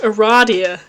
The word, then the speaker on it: Aradia: about to get into a radius route I apparently pronounced it right it is pronounced Aradia okay James Roach who